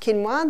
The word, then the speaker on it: quinoa: familiar with its spelt Qin OA but it's pronounced quinoa thee Aztecs love their quinoa all these are